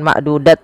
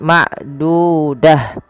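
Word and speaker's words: معدودة: Apabila ada ta marbutah ter letak di akhir bacaan kita, maka ia diganti dengan huruf ha. Awalnya ma'dudat. Maaf kalau di mad dibaca bukan ma'dudat lagi tapi ma'dudah ya.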